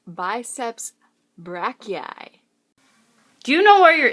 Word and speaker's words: biceps brachii: flexes the forearm okay it's actually pronounced biceps brachii do you know where